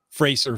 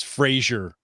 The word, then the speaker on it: Fraser: heard uh maybi Alik mispronounce Fraser Valley as Frasier Valley I recorded it on